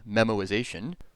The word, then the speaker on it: memoization: it's a technical term it's memorization without the r this method as it